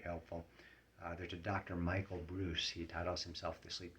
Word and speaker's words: Breus: And Bruce is spelled Breus.